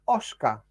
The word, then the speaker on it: Oscar: I went now that's Oscar they've been pronouncing his name without the S and I've been calling